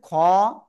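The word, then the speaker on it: خ: হবে খ ঠিক আছে সিম্পল বাংলায় খ আর এই খ এর মধ্যে পার্থক্য কি এটা হলো গলার শেষ ভাগ থেকে উচ্চারণ করব খ ঠিক আছে তাহলে সবাই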